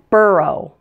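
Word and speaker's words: borough: have oh ugh Spelling's four of these words pronounced oh ugh Oh like the sound in the words show or low say them with me though although doe and burro if you don't know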